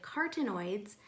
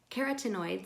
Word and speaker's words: carotenoids: plant foods are full of a variety of cartoon aids carotenoids sorry i keeps mispronouncing that many of which can be precursors